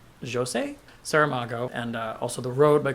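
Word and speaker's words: José Saramago: after reading blindness by jo se-ho I have recently learned that I was pronouncing his name wrong and I believe it's Jo say Sara Mago and also the road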